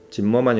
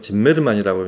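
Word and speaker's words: Zimerman: 근데 이 곡은 저는 짐메르만의 연주로 이제 짐머만이 아니고 짐메르만이라고 이제 요새 발음을 많이 하니까 그렇게 익숙해져 있는데 역시 임동혁은 예상은 했지만 다르네요 스타일이.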